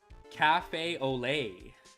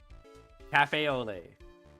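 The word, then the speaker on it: café au lait: All right, how do you pronounce that? Cafe au lait. Cafe au lait.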